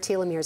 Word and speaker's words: telomeres: I still trip on that word telomeres.